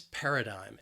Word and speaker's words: paradigm: it's a noun and it has three syllables and the stress is on that first syllable paradigm that second syllable again it has that schwa sound but I think that final syllable that that IgM that spelling can throw people off a little bit that third syllable I'm paradigm then we have the